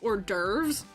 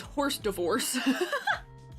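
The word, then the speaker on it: hors d'oeuvres: person, which is that I mispronounced or derves as horse divorce, like consistently all the way up through high school, which maybe is at least a little bit topical to this.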